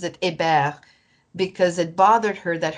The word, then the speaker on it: Hébert: And my fiddler, Donna Hébert, who actually pronounces it Hébert, because it bothered her that her grandparents chose to forget French quickly in the family.